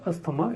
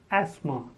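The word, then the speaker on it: asthma: next word is Asma many people speak it as hasta maana it is not a stoma it is Asma the first is ad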